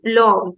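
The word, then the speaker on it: plomb: Okay, so OM will be pronounced as O and B will be silent. So plom will become plom, plom, which means metal.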